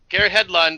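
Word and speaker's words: Garrett Hedlund: by Garrett H Hedland is that how it pronounce his name yes Garrett Hedland who plays Sam Flynn the new hero the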